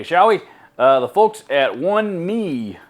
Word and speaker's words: 1Mii: The folks at OneMii, I think is how that's pronounced, OneMii. I'm assuming that's how it's pronounced.